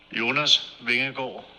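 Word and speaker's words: Jonas Vingegaard: was courteous enough to send us the real pronunciation jonas vehicle whoa then a goal is going [ __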